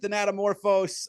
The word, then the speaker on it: Thanatomorphose: I pronounced it Thanatomorphose.